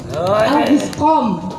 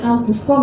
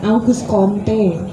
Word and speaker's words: Auguste Comte: Auguscom, bacanya Auguscom ya, jangan August Comte, Auguste Comte, jangan.